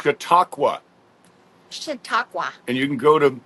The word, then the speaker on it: Chautauqua: Chautauqua. Chautauqua.